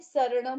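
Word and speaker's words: सरणं: शक्कर वाला शरण वाला, वो श अक्षर एग्जिस्ट ही नहीं करता है, वो लेटर ही नहीं एग्जिस्ट करता है। दैट्स वाई ये चत्तारि शरणम होता है प्राकृत में। सो राइट प्रोनाउंसिएशन इज चत्तारि शरणम प्रव्रजामि अरहंते।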